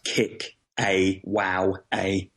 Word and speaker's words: Kickawowa: that's you sort of you sort of spell it as you say it so it's kick awow a um and a lot